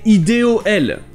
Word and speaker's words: idol: Mais ici, le O se prononce bien E, idol. Ça donne l'impression que c'est le son O, mais c'est bien le son E, idol.